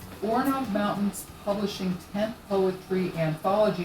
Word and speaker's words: Orenaug: Orenaug, I said it right. Orenaug Mountain Publishing 10th Poetry Anthology, edited by Sandy